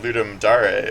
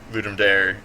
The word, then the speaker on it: Ludum Dare: the banner of uh ludum Dar or like ludum dare depending on how you want to pronounce it um which I only